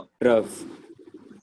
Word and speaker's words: trough: ट्रफ। ट्रफ।